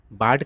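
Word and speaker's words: bard: का उच्चारण तो दोस्तों ब्रिटिश इंग्लिश में बड पढ़ा जाता है यानी कि आर नहीं पढ़ा जाता है कैसे पढ़ा जाता है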